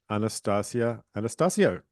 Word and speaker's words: Anastacia Anastascio: Welcome to Super normalized Anastasia Anastasio thank you for saying my name correctly I practi so Anastasia